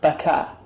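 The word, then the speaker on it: بكى: the verb is yapki the past tense is baka so even in the arabic bible the word is with the ka sound and now i think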